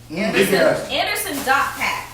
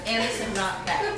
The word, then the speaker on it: Anderson .Paak: The dot is pronounced. He said he took so much time as being the underdog, nobody paying attention to him. He wants you to pronounce the dot. So it is Anderson dot Paak.